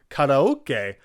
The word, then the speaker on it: karaoke: So you can see how in karaoke, you have the ka, ra, and then an o right after the ra.